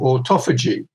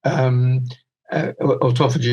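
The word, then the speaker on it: autophagy: cancer is something called Auto Fei Jie or Auto Fuji which ultra G is the American pronunciation and this is a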